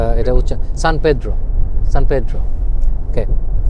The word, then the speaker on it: San Pedro: আরো no pronounce এটা হচ্ছে সান পেড্রো।